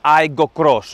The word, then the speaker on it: Aygo X: Για την ακρίβεια πλέον ονομάζεται Aygo X, όμως διαβάζεται Aygo Cross, έτσι το λέει η ίδια η Toyota τουλάχιστον.